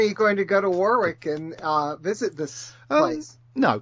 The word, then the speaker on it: Warwick: Well, how do you say it? Warwick. Warwick. Anyway, I have my ancestors came from Warwick.